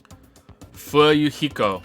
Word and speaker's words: Fuyuhiko: My first name is pronounced fu heo. Fu yuhiko.